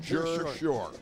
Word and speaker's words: Jersey Shore: from Jer Shore that's how you say it jur Shore all right you've got that yeah hey I'll